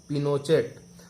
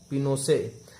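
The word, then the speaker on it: Pinochet: General Augusto पिनोचेट pronounced पिनोसे an army general lead the corp.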